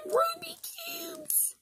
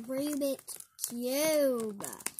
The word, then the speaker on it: Rubik's: One of them Ruby cubes?